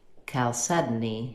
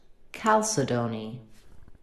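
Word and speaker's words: chalcedony: This can be pronounced calcedin. Calcedany. Calcedany. It can also be pronounced calcedon.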